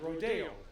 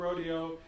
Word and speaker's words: Rodeo: So that's, if you get into an argument of how to say it, the sport is called rodeo, the event is rodeo.